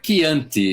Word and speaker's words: Chianti: Olha, Chianti, exatamente, assim que se pronuncia, que é um vinho que eu conheço muito bem, em primeiro lugar.